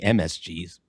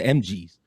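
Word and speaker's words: M.G.'s: It's not Booker T and the MSGs. That sounds like a Korean or a Chinese cover band. It's the MGs.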